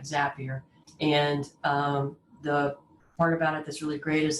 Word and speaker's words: Zapier: couple using automation and zapier which rhymes with happier uh is a perfect